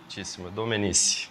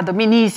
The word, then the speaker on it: Domenici: Eu pronunciei certo seu sobrenome, me perdoe? Domenici. Ah, Domenici, eu falei Domenici. Italiano.